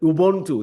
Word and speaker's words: Ubuntu: you brought up, that Ubuntu. Is that right? Is that how you pronounce it? That is perfect.